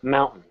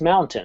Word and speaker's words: mountain: For example, mountain. You didn't hear me say a T there, did you? I mumbled it, mountain. That's how most North American speakers speak. The proper way to say it is mountain, and that's how I'll say it.